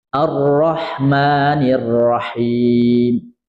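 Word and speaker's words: الرحمن الرحيم: Ini ada juga yang membaca rahnya jadi dibuka. Enggak. Ra-nya tetap tebal. Bismillahirrahmanirrahim. Alhamdulillahi rabbil alamin. Ar-Rahmanir-Rahim. Ar-Rahmanir-Rahim. Jangan sampai bacanya tadi ya, A-nya terlalu kebuka. Ar-Rahman, enggak.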